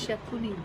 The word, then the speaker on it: Shakuni: ये How do you दोनों pronounce से हम it? संस्कार करते हैं। Sukhi. Shakuni. Sakuni, Sakuni.